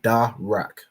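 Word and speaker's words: דרך: The da is separate, and you'll know that by this this arch, signifying that this letter is pronounced separately. So da, and then the ra and the ka are joined, signified by this upside down arch, joining these two letters together to make rak. So da rak.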